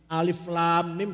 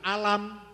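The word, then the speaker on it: الم: Alif lam mim dibaca alam. Misalnya podo itu tulisannya sama itu. Alam. Salah. Bacanya harus alif lam mim.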